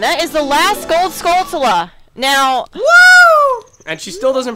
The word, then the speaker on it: Skulltula: is the last gold skulltula now and she still doesn't pronounce the word correctly that's okay shut up it's it's supposed to be skull and tarantula oh my god shut